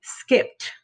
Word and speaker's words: skipped: i know that it the ed is gonna make the t sound because it's on voice so we say skipped skipped okay again we're going